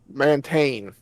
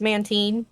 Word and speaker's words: Mantine: or Mantane. Mantine. Maintain. It has to maintain. It's Mantine and it's Remoraid.